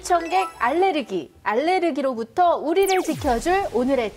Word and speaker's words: 알레르기: 입니다 엄마는 알려 있잖아요 미국 발음이 알러지 누구의 한국에선 앓는 한국 공식 표기가 알레르기 입니다 5 뭔가 파괴 봉분 어떻고